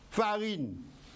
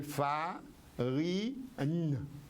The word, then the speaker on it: farine: écrire poule sans e farine va perdre son e c'est pas Farin c'est farine parce qu'en cré toutes les lettres se prononcent farine n prononcé donc alors une règle